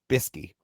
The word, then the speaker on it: bsky: That's the way it's spelled, BSKY, Bisky.